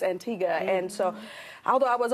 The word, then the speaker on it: Antigua: to the antique mm-hmm we like to say Antigua in the States but it's definitely not how you pronounce it so it's Antigua and so although I